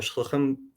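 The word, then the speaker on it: שלוחים: way Chabad sends their shluchim all around the world. World Zionist Organization also sends shluchim, although I'm told I keep on pronouncing that not in the Hebrew way, but in the Yiddish way.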